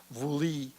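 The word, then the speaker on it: Vuelie: the language of the vikings the first song pronounced vuli is the theme of the movie that plays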